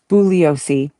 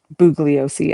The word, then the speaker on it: Bugliosi: Bouiosi bugiosi I like saying it with the G sound harder.